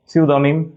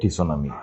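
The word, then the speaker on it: tsunami: সুনামি টিসোনামি pneumonia pneumonia psychology পিসাইচলজাই mnemonic এমনিমনিক সিনিম piece okay একটু comment করে fail প্রত্যেকটাইড সুনামি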